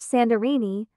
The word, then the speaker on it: Santorini: Santorini Greek, pronounced Sandorini, officially Thyra, and classic Greek Thera English pronunciation are.